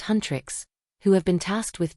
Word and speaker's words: Huntr/X: The movie follows the fictional K-pop girl group Huntr/X, pronounced Huntrix, who have been tasked with defending the world from demons.